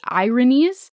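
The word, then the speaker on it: Erinyes: are also known as the ironies and not like irony but like it's spelled e-r-i-n-y-e-s and they are made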